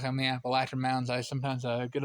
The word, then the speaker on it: Appalachian: And then of course in the western part of the state we got the Appalachin Mountains and um they're pronounced Appalachin, not Appalachian.